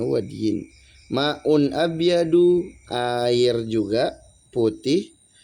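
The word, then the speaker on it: وَدْي: Wadi adalah wadiyin bacanya wadyin.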